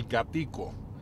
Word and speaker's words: Gatico: similar to the animal, they would refer to the store as El Gatico, the little cat, but pronounced in Spanish, Gatico.